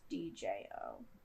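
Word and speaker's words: DJO: Also, it's if you guys don't know who he is, it's if you're looking him up, it's DJ O. Yeah. You say it like Joe.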